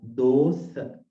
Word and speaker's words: dosa: In Pali language, we can pronounce that like dosa. There is no sh, right? In Pali language, there is no sh.